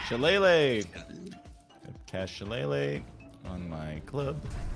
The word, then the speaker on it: Shillelagh: How do you pronounce that cantrip? Shillelagh. Shillelagh.